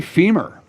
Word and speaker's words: femur: Everybody say femur, right? It rhymes with lemur.